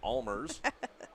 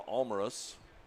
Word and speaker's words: Almaris: Josh Almaris was pronouncing it Almers. I tried to morph that into Almaris, and then we asked Mason. He goes by Almaris.